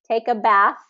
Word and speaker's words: bath: So take a bath, the TH sound is that voiceless TH sound.